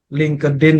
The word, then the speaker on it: LinkedIn: ya bukan vocabularynya ya LinkedIn yang benar yang disebutkan oleh Mas Yasir itu benar menggunakan huruf t LinkedIn jadi t-nya tu agak sama-sama tipis-tipis gitu Tapi orang yang